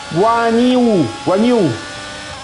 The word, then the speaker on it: Guanyu: ma come si pronuncia il nome di questo qua? Guanyu.